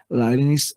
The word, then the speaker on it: Leibniz: Leibniz es la forma de pronunciar de los alemanes, ¿sí?